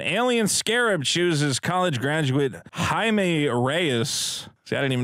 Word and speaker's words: Jaime: the synopsis an alien Scarab chooses college graduate Jaime Reyes see I didn't even know how to pronounce his name until after I watched this movie I'm gonna take a wind-up to say Jaime Jaime Reyes to be his symbiotic host bestowing